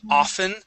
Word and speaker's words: often: Let's take a look at often. So instead of often, it's a often. Often. Good. One more time.